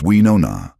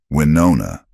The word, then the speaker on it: Winona: It's we know na. She corrected him gently one day. The O is rounder. Winona.